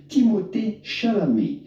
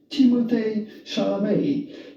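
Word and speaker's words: Timothée Chalamet: would pronounce his name timot shalam shame the T at the end of his name is definitely silent so do not pronounce it in English or American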